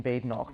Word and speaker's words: Badenoch: I always tell them there is no bad in Badenoch, but it still doesn't seem to stick.